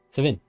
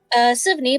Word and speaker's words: Sivney: Sivin. Is that how you say it, Sivin? Okay. Sivney, but you can just call him Siv.